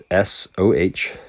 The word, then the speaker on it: SOHCAHTOA: SOHCAHTOA is how I pronounce this, and you need to pronounce it the same way as me, because you'll see very quickly here, S stands for sine, and it is opposite divided by hypotenuse. You don't pronounce this thing SOA, right? That would be OA, and that would be incorrect. It's so.